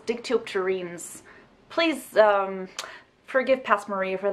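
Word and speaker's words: Dictyopterenes: about sex that's creepy dicto up teranas sup guys by the way the correct pronunciation for this word is dick teal terrines please forgive past maria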